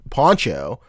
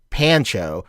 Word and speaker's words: Pancho: Well, so it's interesting, Juan, because my name is Poncho, but it's spelled Pancho. So like, but it's not pronounced like Pancho. It's pronounced Poncho.